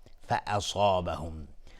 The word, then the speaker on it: فأصابهم: بله، آیه 34 فأصابهم، صاد از حروف استعلا غلیظ تلفظ میشه، الف هم تابع صاد غلیظ.